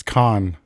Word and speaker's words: Cannes: It's Con. Is it? Oh, you're right. Oh! Yeah, the S is silent.